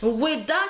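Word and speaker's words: Wehda: Weda qui s'écrit W-E-H-D-A. W-E-H-D-A. Il n'y a pas Weda, W-E-H-D-A.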